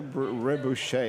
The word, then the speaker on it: Rebouche: Rebecca Rebouche, is that how you pronounce it? Bravo. Oh, really? Yeah, Bravo. That's bien. Italian, bravo, but Rebouche is French, I believe, is it?